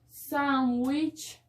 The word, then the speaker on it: sandwich: atractivo tenemos sandwich sándwich recuerden que la de smuda nosotros tenemos el error aquí que hemos traído esa palabra del inglés le hemos traído a nuestro idioma español y solemos decir sándwich no se dice sándwich y